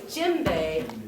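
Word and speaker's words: djembe: j m b e the D is silent d j e m b e so we say jimbe by not pronouncing the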